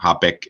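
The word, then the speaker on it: Haböck: It's Habeck. Again? Habeck. Habeck. You can pronounce it like the beer Becks. You know, Habeck is also fine, but this umlaut O is Ö.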